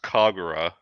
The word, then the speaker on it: Kagura: It's pronounced Kagura, Senran Kagura.